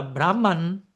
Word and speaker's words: Brahma: Ahora, Brahman, por pronunciar puntualmente, uno es Brahma, ¿no? El que va con la A larga, el arquitecto cósmico universal,